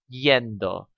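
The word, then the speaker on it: -iendo: add the ending yendo now you notice my pronunciation of this ie and espanol produces this sound yendo so when I say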